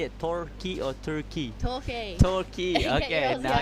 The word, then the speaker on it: Torquay: Torquay.